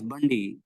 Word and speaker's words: Bundy: name a bit tricky can pronounce me as Bundy okay Bundy is that